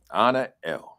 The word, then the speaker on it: Anael: So people might have looked at your name and said, I wonder how you pronounce that. Anael. Anael, right?